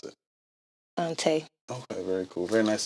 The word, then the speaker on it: Taii: I am Taii. Okay. Galley on the drum. I was wondering how to pronounce it. Taii.